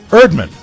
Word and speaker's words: Erdman: Todd Erdman or irdman Erdman e-e-r-e-a-r-d-m-a-n because he explains Erdman yeah which uh in his own words rhymes with nerd man or turdman oh he